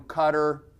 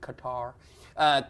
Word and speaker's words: Qatar: You get some dude from Cutter. Some of you still pronounce it Qatar. Cutter.